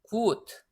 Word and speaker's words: gut: unter, gut, und, mund. 자, 들어서 아시겠지만 2번은 gut하고 장모음이 되는데 나머지는 단모음들이에요.